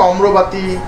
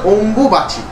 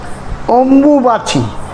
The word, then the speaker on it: অম্বুবাচী: বলে যেহেতু গ্রামের লোকেরা তো ঠিকমত অনেক কিছু উচ্চারণ করতে পারে না ওই জন্য এই ভাষাটাকে অম্রবাতি কেউ শরীর খারাপ কেউ নানা রকম ভাষায় বলে একচুয়ালি যদি স্পষ্ট উচ্চারণ অথবা প্রকৃত কথা হয় সেটা হচ্ছে অম্বুবাচি অম্বুবাচি এর নামটা কিন্তু অম্বুবাচি অম্বু একটা শব্দ অম্বিকা